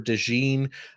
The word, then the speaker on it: DeJean: And yeah, I was looking up name pronunciations as well, and it does look like it's Cooper DeJean. I know I've been saying DeJean.